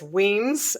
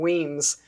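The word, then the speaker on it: Wemyss: it uh so it's weems it's and then with an ie and weems and i spell it phonetically everywhere but it's pronounced w-e-e-m-z it is spelled like wemmis it's w-e-m-y-s-s and i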